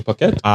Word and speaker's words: Phuket: pronounce it Phuket?